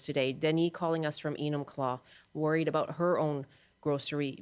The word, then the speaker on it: Enumclaw: on the line from Enumclaw. I hope I'm pronouncing that correctly. Hi, Denis. Hi, that was close. Nobody can say it. What is it? It's Enumclaw. It's a Native American name. Enumclaw.